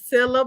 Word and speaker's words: Sillia: name Sila Sila Sila last I so it's pronounced Sila Miss Sila today with smart decisions next week we